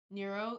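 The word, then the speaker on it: Nrvnqsr: Oh, Nurero. Wait, what's his name? Nurero. It It's spelled like they they spell it like uh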